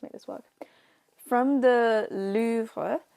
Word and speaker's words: Louvre: I always used to say Louvre because that's what Americans say, and then a lot of the English people I know say Louvre. I feel like it's Louvre, like Louvre.